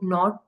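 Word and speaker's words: nought: इसको नॉट या ओ इस तरह प्रोनाउंस किया जाता है।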